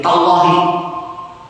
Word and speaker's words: tallahi: Wa-nya itu kalau dibacanya jadi wallahi. Ta-nya itu kalau dibaca jadi tallahi.